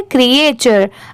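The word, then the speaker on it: creature: और टी यू आर ई यहां पर इसकी प्रोनाउंसिएशन टूरे नहीं है। यहां पर क्रिए च तो यहां पर यह जो टी है यहां पर ट नहीं च की साउंड आएगी।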